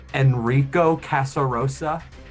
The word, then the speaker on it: Enrico Casarosa: How do you pronounce his name? Enrico Casarosa.